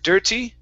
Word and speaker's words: dirty: want to work on the t sound in dirty so instead of saying dear dir dirty okay give me a flap t sound here so uh help